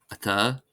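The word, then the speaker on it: atá: As in any language, of course, there are always some exceptions, and here are some common words that are exceptions, that is, they're not stressed on the first syllable.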